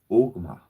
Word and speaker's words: Ogma: What I find interesting is Ogma. Says Ogma is spelled O, G as in Gary, M as in Mary, A. Ogma. So if we, there's a movie called Dogma.